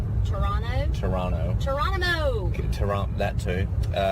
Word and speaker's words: Toronto: say in Canada that I pronounce the T the Toronto Toronto Toronto Toronto Toronto at